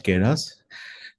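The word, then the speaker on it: Keras: ठीक है, तो प्रोनाउंसिएशन सबका अलग अलग हो सकता है, बट केरास, केरास क्या है?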